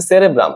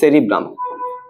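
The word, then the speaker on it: cerebrum: গুরু মস্তিষ্ককে বলে দিছে সেরেব্রাম আসলে না কথাটা কিন্তু ঠিক না ঠিক কথাটা কি আমাদের এই অগ্রমস্তিষ্ক বা গুরু মস্তিষ্ক এটা তিনটা ভাগ থাকে প্রথম ভাগটার নাম হচ্ছে সেরিব্রাম সেরেব্রাম সঠিক উচ্চারণ যদিও সেরিব্রাম তারপর আমাদের থ্যালামাস এবং সাথে হচ্ছে হাইপোথ্যালামাস।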